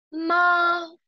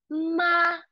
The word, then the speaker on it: 猫: 猫猫猫。对了，非常好，千万别读成妈，好吗？